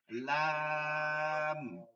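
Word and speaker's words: لام: শুধু এতটুকু খেয়াল করেন, এই যে এইমাত্র একজন বলছেন লাম, এই লা যেন না হসে, একদম সোজা লাম।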